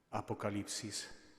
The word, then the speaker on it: Апокаліпсис: вона є дуже літургійна по-грецьки та книга звучить апокаліпса Апокаліпсис І знаєте коли вже